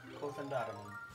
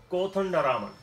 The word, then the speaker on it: Kothandaraman: Govindarajan Kothandaraman. Govindarajan. Govindarajan. Easier to say, right? Very much so. Govindarajan. Kothandaraman? Kothandaraman. Kothandaraman. Okay, so it's on the next to last syllable?